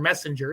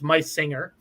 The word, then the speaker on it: Meisinger: And I used to call Doug Meisinger Messenger, and he corrected me. It's Meisinger.